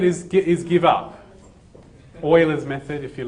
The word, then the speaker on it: Euler: just said what about Euler's method okay so what Leo's method is get his give up Oilers method if you like if you want to pronounce it properly well he was German right so it's well he's